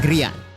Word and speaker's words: Grian: Is it Giran or Grian? Grian.